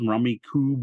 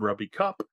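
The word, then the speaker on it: Rummikub: I've heard it pronounced a million different ways. Rummy Cube, Rummy Cub, Rummy Cup.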